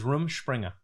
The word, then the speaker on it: Rumspringa: Is it room or rum? How they say it is Rumspringa.